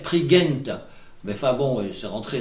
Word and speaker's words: Prigent: Et un petit mot sur Dénès Prigent, qui est maintenant très connu, dont, comme il le dit, la bonne prononciation devrait être Prigent.